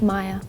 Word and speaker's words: Mia: This is actually called Maya. You might pronounce Mia, but I call it Maya cuz that's my name.